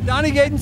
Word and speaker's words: Donnie Gayden: you pronounce your name you're right donnygate is the way to go donnygayden so i'm doing it right tell